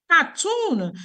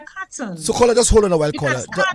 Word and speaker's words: carton: like it's it's like cartoon you say I'm going to buy a cartoon of milk you are not buying a cartoon of milk you're buying a carton just hold on just